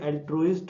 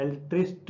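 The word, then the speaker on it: altruist: और यार इसकी प्रोनाउंसिएशन देख लीजिए, एल्ट्रुइस्ट होता है, एल्ट्रिस्ट या एल्ट्रुइस्ट कुछ नहीं होता, एल्ट्रुइस्ट होता है।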